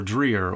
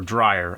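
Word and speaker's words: Dreyer: produced and directed by Carl Theodore dreier or dryer I've heard both ways pronounced he's one of the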